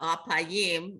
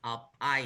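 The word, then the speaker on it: אלפיים: So the emphasis is not on the last syllable, but under the next it's on the next last syllable. So it's Alpayim.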